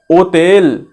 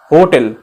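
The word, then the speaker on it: hotel: पे H को खा जाएंगे, ओ से पढ़ेंगे, ओतेल, ठीक है, होटल, ओतेल, ओतेल।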